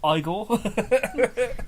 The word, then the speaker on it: Igor: Marty Feldman in his iconic role as Eagle igore sorry Frankenstein turns off he says it's pronounced Frankenstein get it right Eagle actually it's pronounced igore yeah um and then blazing headles which is